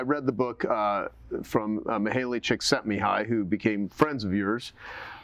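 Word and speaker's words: Csikszentmihalyi: his day uh and you taught me how to pronounce his name which is Chick set me high and he wrote flow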